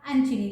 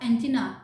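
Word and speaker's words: antennae: एक इसका होता है बेटा एंटीनी, जिसे आप एंटीना बोलते हैं, ठीक है? बट the correct pronunciation is एंटीनी.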